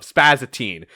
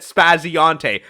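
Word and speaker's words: Spaziante: I just said it the way I read it off of, Spazatine. It took me to talk to Ian fucking Flynn himself to find out that his name is said Spazionte.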